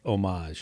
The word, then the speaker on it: homage: I think H is silent. I think it's homage.